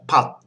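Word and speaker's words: ผัด: If it's an initial consonant, it makes a D sound. If it's a final consonant, it makes a T sound. So it's pat. The tone is low. It's a high class initial consonant. It's a dead syllable and a short vowel, so it has a low tone.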